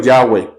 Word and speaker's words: Yahvé: Entonces, este Yahvé o Yahweh, cualquiera de las dos pronunciaciones, finalmente somos cuencanos, no vamos a poder pronunciarlo como va a pronunciar un hebreo.